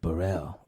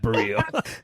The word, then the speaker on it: Bereal: hey buddy oh no it's me burrell not brielle i'm not a rapper